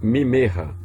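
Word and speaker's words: ממך: Agora, quando o shevá é pronunciado, nesse caso aqui, ó, do mimerra, né? Mimerra, que significa de ti. Por que que ele é pronunciado? Porque ele está vindo debaixo de um dagueche forte.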